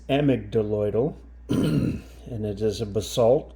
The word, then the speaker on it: amygdaloidal: It is a AMYGDALOIDal basalt, spelled like this, which to me looks like AMYGDALOIDal. At first I thought, well, who is AMYGDALOIDal and why does she have her own rock? The correct name is AMYGDALOIDal, and it is a